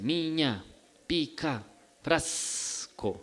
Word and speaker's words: miña pica frasco: La gente dice miña pica frasco, debe pronunciar la S alargada, y eso, aparte de